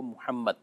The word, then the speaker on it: محمد: کال آتی رہتی ہے، تو محمد کا جو تلفظ ہے وہ محمد یہ ہے۔ جی جمیل صاحب، جمعے